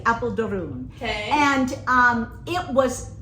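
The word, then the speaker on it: Apeldoorn: to Apple durun okay so I call it Apple Dorne but it is pronounced correctly Apple durun okay and um it was it I'm telling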